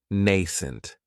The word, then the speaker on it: nascent: Another great adjective is nascent, and this word has 2 syllables, and the stress is on that first syllable. It has the long A sound, nascent. That second syllable has that schwa, nascent.